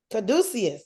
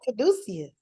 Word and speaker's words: caduceus: Pronunciation. Caduceus. Caduceus. You had it right, Rev. Caduceus.